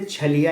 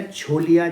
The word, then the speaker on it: छलिया: और इस तरीके से छलिया या छोलिया जिसे कई बार बोलते हैं, लेकिन न्यून जो उसका मुख्य जो वो है प्रोनाउंसिएशन वो है छलिया। तो छलिया महोत्सव जो है वो पिथौरागढ़ में मनाया जाता है।